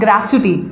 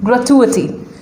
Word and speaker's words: gratuity: growth to a tee many people call it gravity but the correct pronunciation is grow to earthy gratuity now its meaning is